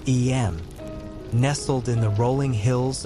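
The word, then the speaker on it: Eyam: of a small English village called em pronounced em nestled in the rolling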